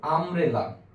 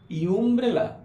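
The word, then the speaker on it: umbrella: এবার তুমি যদি মনে করো আমব্রেলা, ইউ এন বি আর ই ডাবল এল এ, আমব্রেলা, আমব্রেলাকে তুমি কি বসাবে? কনফিউশন। দেখো ইউটাকে শুধু উচ্চারণ করো ইউ, পুরো শব্দটা উচ্চারণ করো ইউমব্রেলা, ইউমব্রেলা না আমব্রেলা।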